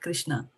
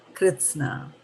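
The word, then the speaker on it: कृत्स्न: you to understand that this word is not krishna a lot of us pronounce it as krishna when we are reciting this verb it is not krishna it is kritsana krishna means completely okay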